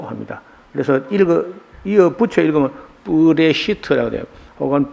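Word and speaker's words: בראשית: 이 태초라는 말이 여기 요 앞에 있는 요 글자는 뿌라고 발음을 하고요. 이쪽에 있는 게 이쪽을 읽어서 레시트라고 합니다. 그래서 이어 붙여 읽으면 뿌레시트라고 돼요. 혹은 베레시트, 뿌레시트 이렇게 합니다.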